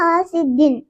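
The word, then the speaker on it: حاسدٍ: حاسدن, ہم نے ادھر جھٹکا بھی نہیں لگانا, بس ایسے پڑھنا ہے حاسدن, تاکہ آپ لوگ ایسے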